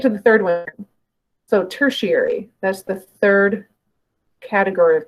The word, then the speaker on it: tertiary: third category of color now it's pronounced tertiary the ti right here in the middle it's pronounced with that sha noise like Nation nation has that TI as well um so tertiary and